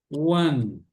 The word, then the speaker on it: one: em inglês é ou One muito importante conforme eu disse na primeira aula a maioria das palavras terminadas com a letra e a letra e não é pronunciada e a a ponta